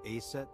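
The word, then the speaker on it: Aset: it oh yeah didn't he come up with a set too yeah that's right that name is rooted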